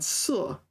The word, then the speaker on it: 塞: In 堵塞, it's pronounced 塞.